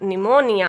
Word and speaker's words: pneumonia: Rule of silent letter P is if a words begin with PS or PN, then letter P will be silent. Pseudoscience, psychiatrist, psychology, psychotherapy, psychologist, pseudo, psychic, psychotic, pneumonia.